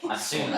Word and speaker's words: Asuna: Like Asuna. A sauna. I'm pronouncing it Asuna, so Okay, It's you have Asuna.